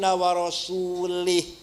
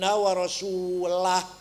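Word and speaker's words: وَرَسُولُهُ: Ada orang baca Quran salah. Wa annallaha bari'um minal musyrikin wa rasulih. Allah tidak melindungi orang musyrik dan tidak melindungi Rasulullah. Salah. Bacanya harus wa annallaha bari'um minal musyrikin wa rasulah.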